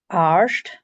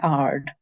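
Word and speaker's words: àird: And in English, it's been changed into aired, but in Gaelic, it's arsht. In Lewis, you don't say the sh bit, you just say ard.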